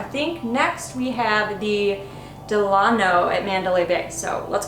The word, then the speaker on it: Delano: For what it's worth, on the voicemail thing when you call, they say Delano. Okay, so we'll go with Delano for the rest of the time here.